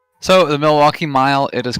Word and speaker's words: Milwaukee: what what is it Milwaukee yeah Milwaukee Milwaukee ah but you you do pronounce the l oh absolutely absolutely yeah okay and I